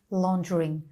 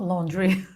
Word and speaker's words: laundering: Is that how you say it in Yeah. English? Money laundering. Okay, money laundering, not laundry.